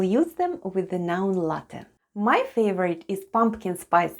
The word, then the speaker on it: ЛАТТЕ: E at the end of ЛАТТЕ /latte/ sounds like Э /e/. And all together it's ЛАТТЕ /latte/, ЛАТТЕ /latte/ There's three genders in Russian: masculine, feminine and neuter.